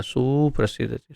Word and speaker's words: सुप्रसीदति: उच्चारण में गलत कर रहा था, सुप्रसीदति, सुप्रसीद सुप्रसीदति, सु छोटा है।